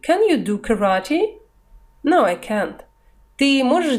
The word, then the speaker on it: karate: Слово karate в английском читается именно так. Это по-русски карате, а они говорят karate, то есть ударение на второе А.